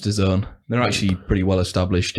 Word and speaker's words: DAZN: It's pronounced DAZN.